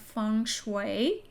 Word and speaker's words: feng shui: So funue means what? Wind and water. It's pronounced fune.